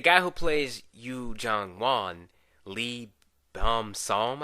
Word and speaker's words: Lee Beom-soo: But the guy who plays Yoo Jung-won, Lee Beom-Soo, I think that's how you pronounce it.